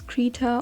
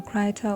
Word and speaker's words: Krita: you all right so this is krita or krita or Critter however you want to pronounce it it's basically the